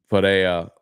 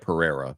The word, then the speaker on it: Pereira: the main event uh Fara or however P Fara F however they say I know they say it with an accent but it looks like Pereira but it's pronounced like Vera um I don't know